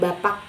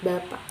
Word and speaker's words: bapak: Terus di posisi akhir ada bapak, bukan bapak, jadi bapak.